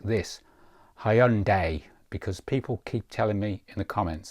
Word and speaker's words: Hyundai: of pronunciation moving forward I will try and pronounce Hyundai correctly like this Hyundai because people keep telling me in the comments